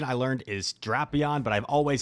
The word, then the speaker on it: Drapion: someone that's already mentioned it's because the official pronunciation I learned is draon but I've always said drapion so now I like I use it interchangeably